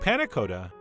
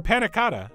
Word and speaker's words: panna cotta: but anyway that's it buttermilk panakota or panaca as I usually pronounce it in real life whether you serve it